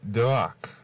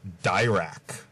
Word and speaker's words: Dirac: It's pronounced Dirac, not Dirac.